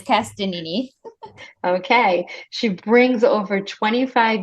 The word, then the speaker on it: Castagnini: Cristina Tell me how to pronounce it. I should have asked you before. That's okay. Everyone butchers it. It's Castagnini.